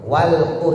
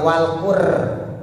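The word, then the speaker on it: والقرآن: Walquur. Jadi bukan walur bukan qur. Getarannya lebih dari dua. Qur r. Bukan, tapi walqu walqur.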